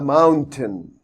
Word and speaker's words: mountain: I can see a mountain a mountain I can see here a mountain mountain mountain we have to stress on the first syllable here and say it aloud Mountain mountain is there